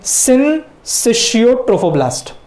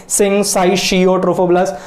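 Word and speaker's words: syncytiotrophoblast: बराबर से प्रोनाउंस करना है, सिनसिशियोट्रोफोब्लास्ट। मैंने इसके बहुत अलग अलग प्रोनाउंसिएशन भी सुने तो अजीब अजीब थे, सिनसाइशियोट्रोफोब्लास्ट, तो ऐसा हम लोग अजीब बोलने की जरूरत नहीं है, सिनसिशियोट्रोफोब्लास्ट।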